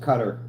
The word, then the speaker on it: Qatar: Sarah flew Qatar Airways. Oh, I bet their planes are nice. It's actually pronounced cutter.